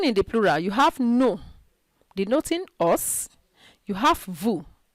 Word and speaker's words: nos: commonly pronounced okay so don't pronounce no as nos or vu as vuz or le as less take note of that